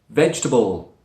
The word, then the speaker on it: vegetable: I thought number nine vegetable vegetable right the way this word is written it looks like there are four syllables but there are the